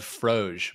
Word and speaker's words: Froge: It's spelled Froge, but it's probably pronounced like frog.